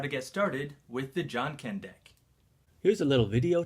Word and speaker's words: Janken: research and learned that in Japan they call the game rock-paper-scissors John Ken and I thought the name was a perfect fit and if you want to pronounce it jenkin deck that's fine too now here's the basics